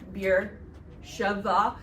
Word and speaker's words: Beersheba: Your Bibles will probably spell it Beersheba, all in one word, but most of the maps call it Beersheva, two separate words. Welcome to Hebrew transliteration. B's and B's are often interchangeable.